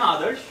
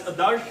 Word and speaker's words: Adarsh: So I'm Adarsh. Some of you may pronounce it as Adarsha. I'll respond to that. Adarsh, whatever. You guys take a pick.